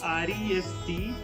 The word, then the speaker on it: restaurant: Okay, and the next word is restaurant. That is what you will call generally restaurant, right? So that is not called as restaurant, it is called as restaurant, restaurant.